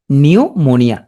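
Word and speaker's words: pneumonia: উচ্চারণ হবে না নিউমোনিয়া তাহলে পি উচ্চারণ হচ্ছে না নিউমোনিয়া প্রথম পি আছে তাহলে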